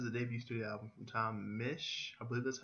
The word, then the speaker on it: Misch: believe it is the debut studio album Tom Mich I believe that's how you pronounce his last name yes it is his